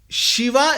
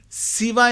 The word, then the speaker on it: Shiva: Whereas Shiva is the right way of pronunciation. Siva is not correct. Chiva is not correct.